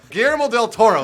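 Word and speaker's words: Guillermo del Toro: GML del Toro is what I meant to say.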